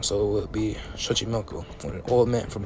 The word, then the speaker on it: Xochimilco: men from Xochimilco, and the X is not pronounced with the H sound, so it would be Xochimilco, but you look at Old Castilian as well as Old Nahuatl languages, and it was really pronounced with the sh sound, so it would be Xochimilco.